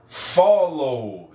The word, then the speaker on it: followed: No passado, ele ganhou ED, e aí a pronúncia fica followed. Followed. Ó, eu estou pulando deste W direto para a letra D. Followed. Followed. Ok? Então, aqui ó, o W ele tem som de U.